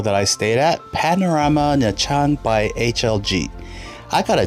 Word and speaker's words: Nha Trang: Welcome to Nha Trang in English. The pronunciation is actually more closer to Nha Trang, which is different. It's the English letters that throw me off with the Vietnamese language.